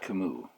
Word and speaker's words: Camus: albert camus um i'm fairly confident that i am pronouncing that reasonably well albert camus although i do not speak french in high